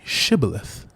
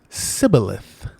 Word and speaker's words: shibboleth: people of Gilead said well say shibboleth and then when the ephraimite spoke they said sibilith and so because they didn't say it right they